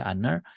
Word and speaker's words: honor: nah Hor adalah verb Hor h-nya enggak dibaca ya honor when you honor people